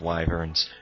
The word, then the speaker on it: wyvern: I absolutely loathe wyverns.